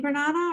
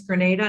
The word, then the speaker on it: Grenada: So it's Grenada, not Grenada.